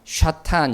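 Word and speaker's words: שָׂטָן: 사탄은 이제 히브리어로 보니까 샤탄 이렇게 됩니다. 한번 따라해 볼까요? 샤탄. 예, 샤탄 이게 이제 히브리어 발음이 되는 것인데, 원래 이 샤탄이라는 히브리어는 원래 가장 이제 기본적인 베이직한 그러한 뜻이 대적자입니다.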